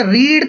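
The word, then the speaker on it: read: अच्छा रीड का देखो लिखते तो सेम ही स्पेलिंग है लेकिन प्रोनाउंस इसको रेड करते हैं।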